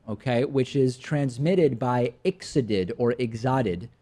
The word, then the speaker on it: ixodid: Which is transmitted by ixodid or ixodid, not exotic, but ixodid or ixodid, I believe it's pronounced, ticks.